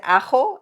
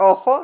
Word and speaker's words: ajo: It's like whenever I said ajo and then he goes oh your eye? Your ojo? No. Ajo. No.